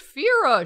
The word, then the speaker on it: Fira: i'm cast i'm casting phyra right now it's pronounced fira shut up this is just starting to look